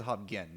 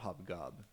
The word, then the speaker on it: Hobgen: But it is Hobgen, not Hobgob.